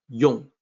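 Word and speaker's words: yòng: and I know that when it's written like y people may think that a rhymes with gone but it's the o sound Yong and the meaning for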